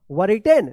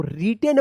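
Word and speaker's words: written: एन क्या पढ़ेंगे इसको वर रिटेन नहीं इसको रिटेन पढ़ा जाता है डब्ल्यू जो है ना यहां पे साइलेंट रहता है क्या है साइलेंट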